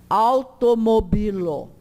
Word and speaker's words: automobilo: Se eu digo que forma de tongo com A, vai ser au. Automobilo.